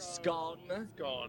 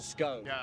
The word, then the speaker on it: scone: Do you pronounce it scone or scone depending on if you're from the north?